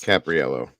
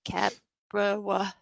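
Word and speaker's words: Caprariello: it's Alex I don't I can't pronounce his last name it's spelled c-a-p-r-a-r-i-e-l-l-o on Twitter that's who's doing the Twitter updates capriello thank you I was like cat bro um Mercer says it's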